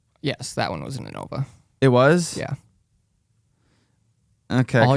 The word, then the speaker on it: Innova: I'm gonna post in it because I think my disc was in Innova. Was it in Nova? Yeah, that's how you say it.